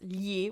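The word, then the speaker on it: gli: okay I already said the first word its ye which is an article so yeah nee Molly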